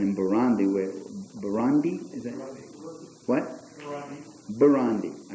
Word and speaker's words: Burundi: Burundi, I pronounced it right.